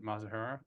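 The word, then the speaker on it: Mizuhara: So his interpreter, Ipe Mazahara, I think Mazahara is how it's pronounced.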